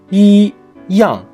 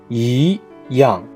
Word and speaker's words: 一样: For example, 一样 means the same, but it has to be pronounced as 一样.